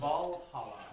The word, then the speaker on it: Valhalla: You can How do you pronounce it? Valhalla.